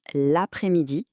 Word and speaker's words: l'après-midi: Faites bien attention à la prononciation. On fait la liaison l'après-midi.